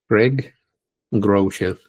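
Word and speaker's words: Craig Groeschel: Así se pronuncia Greg Grell, el cristiano ateo.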